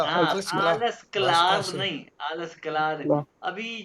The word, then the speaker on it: Alles klar: नहीं, आलस क्लार।